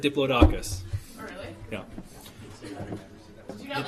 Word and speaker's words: Diplodocus: So, it's really Diplodocus. For my entire life, I think I've said Diplodocus.